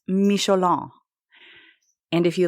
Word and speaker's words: Michelin: I'm going to talk to you about an incredibly adorable and interesting man, the Michelin man, pronounced Michelon.